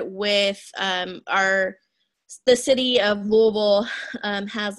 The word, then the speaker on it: Louisville: I couldn't and so it's Louisville it's kind of like you have like a mouthful of something and then you try to say Louisville yes that is people